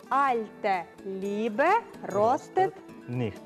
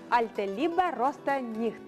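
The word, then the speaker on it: Alte Liebe rostet nicht: Альте лібе ростит ніхт. Ніхт. Альте лібе росте ніхт.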